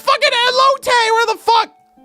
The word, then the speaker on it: elote: What's an elote? Oh my god. I'm crying? An elote? Is that how you pronounce it?